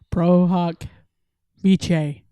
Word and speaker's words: pro hac vice: got the latin pronunciation i got the guy and he says pro huck vichai he's italian so he's got his sounded really good though like we're over here pro hawk fast pro hawk vice y'all